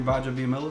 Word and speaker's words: Gbaja-Biamila: Kabir Gbaja-Biamila? Yes, sir, okay, man. So, Kabir Gbaja-Biamila. Gbaja-Biamila.